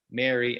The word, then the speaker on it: marry: So M-A-R-Y, the name, M-A-R-R-Y, like to marry someone, and M-E-R-R-Y, like have a Merry Christmas. In my accent, and I think many Americans, I pronounce them basically the same way.